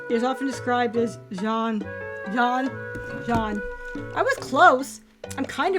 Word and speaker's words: Jean: In French, the name is pronounced Jean, not like the English name Jean. It is a single syllable sound starting with a soft z, as in pleasure, followed by a sound and a clear N.